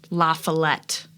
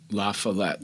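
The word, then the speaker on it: La Follette: president has to be Robert lafallet that's how I say his name lafallet La I think that's correct lafallet fighting Bob or for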